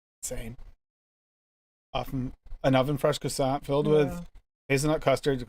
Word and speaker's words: croissant: Croissant isn't the right way. How do you say it, Dave? Croissant, croissant. Croissant. Croissant. Like a Q. Croissant. Croissant. And then you barely pronounce the T at the end.